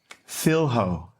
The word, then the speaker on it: filho: It's not like that. Repeat the word. Fil-ho. Filho.